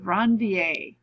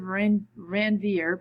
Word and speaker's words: Ranvier: called the nodes of Ranvier. Okay, looks like nodes of Ranvier, but it's pronounced Ranvier. Okay, French or something like that.